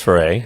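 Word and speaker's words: Foree: all the time yeah but yeah because his foray and i guess yeah i said it right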